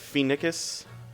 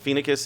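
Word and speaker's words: Phoenicis: kiss and kill vit is that you pronounce that fee NICUs that's how i pronounce it FINA kiss and kill this like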